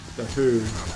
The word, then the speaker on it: Hu: If you like Mongolian metal, you need to listen to the Who, but it's spelled H-U.